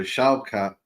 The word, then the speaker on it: Shavkat: It's like the German VW, like the V for the W. So Shavkat Rachmanov.